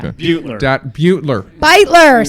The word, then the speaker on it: Beutler: Beutler.